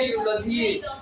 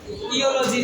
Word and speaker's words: eulogy: अपन क्या पढ़ेंगे इसको? अरे क्या पढ़ेंगे? यूलॉजी। ये तो तुमने देख लिया इसलिए बता दिया यूलॉजी, वरना इयोलॉजी पढ़ते। तुम क्या पढ़ते? इयोलॉजी, जो कि गलत हो जाता।